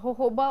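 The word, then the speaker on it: jojoba: ऑफ वानो हम उससे बड़ा वो होहोबा ऑयल है उसको उसकी स्पेलिंग जे से लिखी जाती हैबा लट इ वेरी कॉमन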